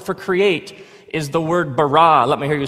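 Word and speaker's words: בָּרָא: now the word for create is the word barah let me hear you say barah it's this forceful energetic word of making things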